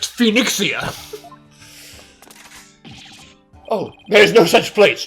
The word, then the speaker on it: Phoenixia: It's pronounced Phoenixia.